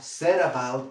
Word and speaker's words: set about: So, set about. ¿Por qué set about? Como siempre te digo, la T, como está entre sonidos vocálicos, la pronunciamos como una R suave.